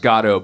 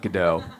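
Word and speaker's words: Godot: be poo in waiting for go uh it's pronounced gado by the way not gdau and uh uh and I said oh yeah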